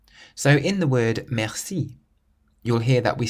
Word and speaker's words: merci: You always emphasize the last syllable or the final part of the word. So in the word merci, you'll hear that we stress the si part, merci.